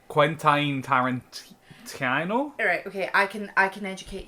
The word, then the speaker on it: Quentin Tarantino: By, I don't know how to pronounce his name, Quentin Tarantino? Alright, okay, I can educate you. Yeah. It's Quentin Tarantino.